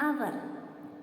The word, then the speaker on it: hour: Then an hour. Here also H is silent.